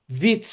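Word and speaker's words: vicc: know some Hungarian and vitz is the way you say joke in Hungarian. It's spelled differently, but it sounds exactly the same.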